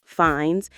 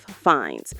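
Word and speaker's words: Fiennes: It's pronounced Rafe Fines and Joseph Fines, but most Americans mispronounce Ralph as Ralph, which makes the connection even less obvious.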